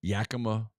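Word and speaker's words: Yakima: their favorite farm in Yaka Valley, Washington. I found out how to say the name. Yaka. Yaka. Okay. I was listening to a Mariners game. just kept saying Yakma.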